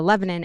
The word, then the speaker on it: Lebanon: over, which is uh it's spelled like Lebanon, the country, but we say it Lebanon. Um you know, that'll never get into a caption. Um but it's uh Lebanon and it's uh so small.